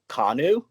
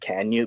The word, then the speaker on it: Kanu: the way that it's actually pronounced it's actually pronounced kanu but that's so boring so i'm just like you know what i'm just gonna make it can you because it just makes sense so you put